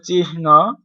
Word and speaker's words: চিহ্ন: উচ্চারণ সঠিক উচ্চারণ হবে চিহ্ন। অ্যাকচুয়ালি আমরা চিহ্ন বলে থাকি, চিহ্ন।